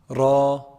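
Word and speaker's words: راء: Ra, ra. It's a heavy letter. How do we say ra? Sometimes can be heavy and light. Ra is heavy. Ri is light.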